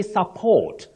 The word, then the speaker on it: support: The first word you say support. The stress is on the second syllable.